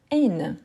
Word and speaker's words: haine: Ensuite, on a haine. Haine. H aspiré ou H muet? H muet ou aspiré? Haine. Celle-ci, on apprend aussi depuis bientôt. Hein? Super. Donc, oui, c'est un H aspiré.